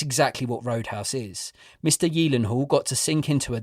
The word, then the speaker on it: Gyllenhaal: we wanted to say how do you say Jake's second name and it is apparently Yen Hall yes and for years like most of us I've been calling him Gyllenhaal or Gillen Hall so there's a fun